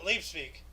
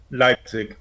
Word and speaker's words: Leipzig: same time Fran Schubert's Misa sullenness premiered in leaf speak all right I can't pronounce that um Leipzig Leipzig yeah uh Association fell to Brazilian